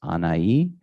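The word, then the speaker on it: Anahi: k the her name is anayi uh n-a-n-a-h-i pronounced anaii and she has been in um uh for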